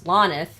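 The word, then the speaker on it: Hlanith: guys were traveling to, which is Lanith, spelled with an H at the front.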